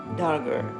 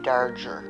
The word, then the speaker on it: Darger: well his name Henry dger we all called him Henry dger no it was Henry darger we pronounced his name Henry darger Henry darger Henry darer